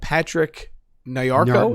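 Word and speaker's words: Patrick Nyarko: I have Patrick Nayako.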